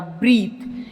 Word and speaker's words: breath: यहाँ पर प्रोनाउंसिएशन में ई लॉन्गर फॉर्म में आएगा ब्रीथ, यहाँ पे ब्रेथ।